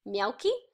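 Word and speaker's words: Mielke: a gentleman called man called Melky oh I think that's how you pronounce it mi e l ke and it's a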